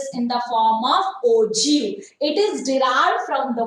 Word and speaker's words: ogive: In the 14th and 15th century, in the architecture field, actually they are using this ogi. Okay, ogi, but we are pronouncing this as ogive.